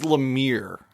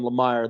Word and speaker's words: Lemire: bit of Ramadan going on, but it is Lemire. I finally learned how to pronounce it. But anyways, that was that's embarrassing because I did that phone interview with him and I called him Lemire the whole time and he didn't correct me.